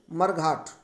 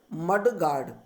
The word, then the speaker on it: mudguard: लेकिन वो वास्तव में क्या होता है? मड गार्ड।